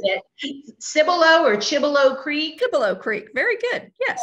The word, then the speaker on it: Cibolo Creek: Cibolo Creek. Very good. Yes. Cibolo Creek.